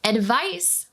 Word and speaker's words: advice: slight difference in pronunciation advice with an s sound is a noun you can give someone